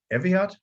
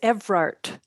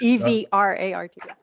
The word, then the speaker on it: Evrart: that was made by, is it Eviat? Is that how to pronounce it? I botched that? The first name, Eviat? I hope so. It's Evrart. Evrart. E-V-R-A-R-T.